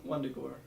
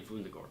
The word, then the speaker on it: Wundagore: What's the mountain that this Wundagore. Wundagore mountain? It's probably Wundagore because Yeah, German. there's a W. But yeah, So I pronounce it Wundagore.